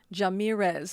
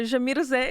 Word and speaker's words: Djamirze: I was in the Supreme Court, they were pronouncing it Jamirez and I thought, well, don't make me sound like I'm from the Mexican cartel. You're making me sound guilty before I've even, you know, So, no, Jamisay is how you pronounce it, but it's pretty